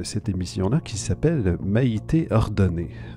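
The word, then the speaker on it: Ordonez: C'est donc la chef de cette émission-là qui s'appelle Maïté Ordonné. Ordonné, O-R-D-O-N-E-Z. Je prends pour acquis que le Z ne se prononce pas.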